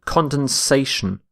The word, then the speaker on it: condensation: a little bit Condon condensation condensation so you need to add an A instead of the e so notice this the shift in stress from condense to condensation our next word is